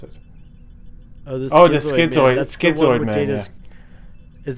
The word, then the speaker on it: Schizoid: Episodes I remember were the Shinzoid Man. Is that how you pronounce it? Oh, the Schizoid.